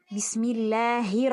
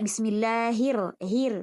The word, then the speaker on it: Bismillahir: tadi yang eh taawud maka dibaca tebal karena di sini rnya berharakat eh fathah Bismillahir ya tidak Bismillah hir tapi hir tebal ya hirahma Nah